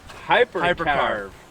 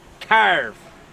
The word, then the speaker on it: Hyperkarve: Gnu Hyperkarve. Carve. It's just like you have to kind of say it that way. Yeah, because it's spelled like K-Y-A-R-V-E. Carve. Yeah. Carve. Hyperkarve.